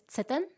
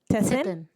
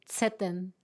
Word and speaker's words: Tseten: Not a problem. It's Tseten. Tessin? Tseten.